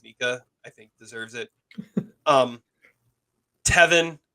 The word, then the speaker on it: Micah: I didn't really understand that moment or that mention, but the fact that his name is spelled Micah and it's Mika, I think deserves it.